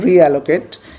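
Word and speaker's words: realloc: আমি এক আচ্ছা রিঅ্যালোকেট উচ্চারণটা হচ্ছে এরকম রিঅ্যালোকেট এটা হচ্ছে আগের আমার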